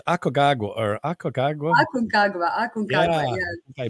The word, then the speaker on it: Aconcagua: Hey, man, I butchered a couple of those, and I think it's Aconcagua. Aconcagua, yeah. I butchered it, and I read like a third grader, so I apologize for that.